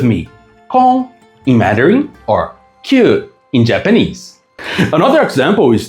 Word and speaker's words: 宮: Kon in Mandarin or kyu in Japanese.